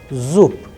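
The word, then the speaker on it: зуб: going to discuss about the sound of bear is changing into pair Zoop Zoop then the sound of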